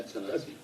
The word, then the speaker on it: Atanasio: I'm probably saying Atanasio because that's the English version of it. Okay, Atanasio. But I have to keep trying to tell myself to take the H out and just leave it Atanasio.